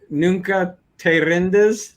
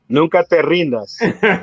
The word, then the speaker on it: Nunca te rindas: Nunca te rindes. Did I say it right? Nunca te rindas.